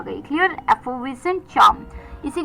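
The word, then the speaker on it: effervescent: Moving on द 10थ word for the evening was एफोविसेंट।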